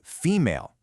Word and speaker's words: female: But then listen to female. Primary accent, sure, but that second syllable stays somewhat prominent because of the full vowel, female.